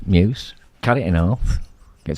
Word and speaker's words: Muse: I don't he he instead of saying uh Muse what did he say moose probably probably love it